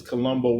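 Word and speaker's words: Columbo: You know, this Columbbo rhymes with Dumbo, but uh yeah, it it's just got to stop, man.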